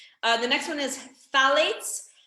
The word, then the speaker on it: phthalates: the next one is phthalates but it's spelled with ph ph t-h-a-l-a-t-s phthalates um this is found